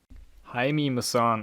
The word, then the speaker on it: Jaime Maussan: Jaime Maussan, I think is the more correct pronunciation.